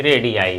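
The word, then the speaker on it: radii: Pronunciation इसका भी रेडियाई है, ध्यान रखेंगे।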